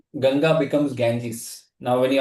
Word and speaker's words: Ganga: the most important river in India people say Ganges. Now what is Ganges? Ganges is basically misprononunciation. You you're supposed to say Ganga right?